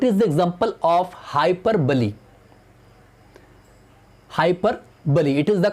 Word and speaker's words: hyperbole: Hyperbole, it is the correct pronunciation of this figure of speech, hyperbole. कुछ लोग इसको हाइपरबोल, हाइपरबोली, पता नहीं क्या क्या कहते हैं, लेकिन इसका जो करेक्ट प्रोनाउंसिएशन है हाइपरबोली.